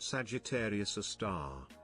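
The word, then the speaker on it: Sagittarius A*: Sagittarius A, pronounced Sagittarius a star.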